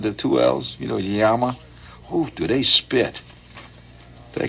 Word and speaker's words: llama: You know, is it a llama? Actually, you pronounce a yama. It's two L's. You know, not like a llama that you go, you